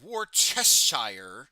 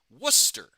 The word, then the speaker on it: Worcester: And I am saying woristir because it is not war chessire sauce. It is in the in the Yankee New England vernacular. It is Worcester. So, woohashir. Okay, that's how you say it.